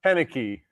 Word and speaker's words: Koenecke: your last name yeah it's pronounced panicky appreciate it how are